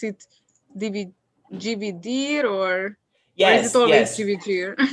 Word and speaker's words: dividir: According to the R, in the infinitive verbs, I don't pronounce the R, dividir. But in some regions, they pronounce dividir, the at the end, dividir, okay?